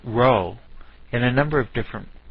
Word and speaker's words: rho: Remember when we were talking about correlations, we talked about rho. Rho looked like a fancy P, but it was actually the Greek letter R, and spelled R-H-O and pronounced rho.